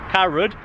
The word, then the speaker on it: Carrow Road: a wander around uh Caro Road or how how do you say Caro Road car carad as uh the people of Norfolk might say according to Gaz but